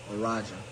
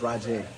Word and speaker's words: Raj: in the chair R Roger it's Raj it's Raj Zach thank you buddy it's actually pronounced my guy we got